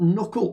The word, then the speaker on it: knuckle: so dimple is there but what about knuckle well that's a silent k that's a hard one isn't it so these